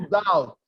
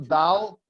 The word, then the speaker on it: doubt: No, to doubt. You don't pronounce the B. To doubt.